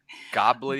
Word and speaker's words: gobbledygook: If you're interested in seeing how you spell gobbledygook, is that how you pronounce it? Gobbledygook?